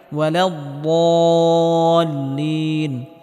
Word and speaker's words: الضالين: আলাইহিম ওয়ালাদ-দাল্লিন, এখানে বদটিকে মোটা করে উচ্চারণ করতে হবে এবং হালকা আওয়াজ জারি রেখে উচ্চারণ করতে হবে।